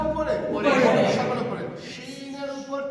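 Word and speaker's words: شين: তার গজরানিটা আমি করছি, ভালো করে শোনেন কেমন। সকলে করেন। এই আওয়াজটার সময় জিভের সাথে দাঁতের সাথে কোনো সম্পর্ক থাকবে না, জিভের মাঝখানটা উপরের তালুতে নিয়ে লেগে যাবে। সকলে করেন। ওইখান থেকে অক্ষরটা উচ্চারণ হবে, শোনেন।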